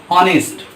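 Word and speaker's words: honest: लेकिन आप देखिए कि यहाँ अगर इस शब्द के पहले लेटर की बात करें, पहले अक्षर की बात करें तो यच से स्टार्ट हो रहा है और यच से स्टार्ट होने के बावजूद भी इसका जो उच्चारण है अ से स्टार्ट हो रहा है, आ से। किससे हो रहा है? ऑनेस्ट। इसलिए यहाँ पे यच हमारा क्या है? साइलेंट है।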